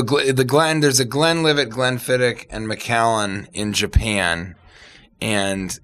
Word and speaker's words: Glenfiddich: kind of the Glenfiddich as I learned it's pronunced there's Glenfiddich Macallan churned iconic names yeah when what's the